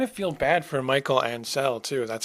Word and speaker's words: Ancel: I kind of feel bad for Michael Ancel too. That's how you pronounce his name, because I remember him talking